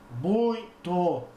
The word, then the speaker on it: muito: Vamos fechar aqui o nosso nariz e pronunciar a palavra muito. Vamos lá? Muito. Bom, se você fez esse teste, você percebeu que o som, a corrente de ar passa também pelo nariz, né?